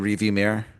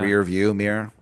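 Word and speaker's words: rearview mirror: And Jay Crow like looks at you in the review mirror or the Yeah, rear view mirror, as it's been pointed out, is the correct pronunciation.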